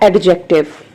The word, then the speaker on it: adjective: First of all, I would like to tell you that this word is adjective, not adjective. This word is adjective, D is silent here.